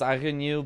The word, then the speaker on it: Agnew: He's really Agnew replied and is confirmed it is Agnew, but the U is pronounced like a Y followed by the second E in letter.